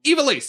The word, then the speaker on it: Ivalice: Ivalice! Yeah. Yes, it is Ivalice.